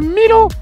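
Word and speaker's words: Myleaux: Oui, alors c'est Milo, mais Milo ça s'écrit M-Y-L-E-A-U-X.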